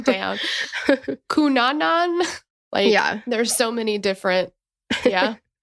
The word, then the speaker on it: Cunanan: Cunanan. There's so many different. Yeah. Like, come on, guys. Spell it out. Cunanan. I know. Yeah. Well, Cunanan is, but it's the wrong emphasis on the wrong syllable.